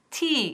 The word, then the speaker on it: tea: Would you like, hemos visto la pronunciación y todo, would you like, y aquí, some tea, y no some té. Tea, es largo el sonido.